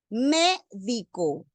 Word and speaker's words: médico: La tilde debe ir en la antepenúltima sílaba. Médico.